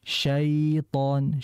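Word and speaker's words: شيطان: tidak dihentak terlalu keras jangan auudzubillahim minasyaiton syai syai jangan tapi syaiton syaitan jadi biar lunak saja ya biar lebih rileks ketika baca ya-nya kemudian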